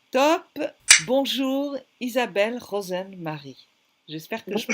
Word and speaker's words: Rozenn-Mari: Bonjour Isabelle Rosen-Marie. J'espère que je prononce bien.